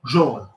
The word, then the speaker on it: jaune: Rhymes with born, jaune.